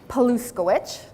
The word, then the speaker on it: Paluskowicz: for those of you who are not eating and are taking notes, Paluskowicz is spelled the exact way it sounds, Paluskowicz.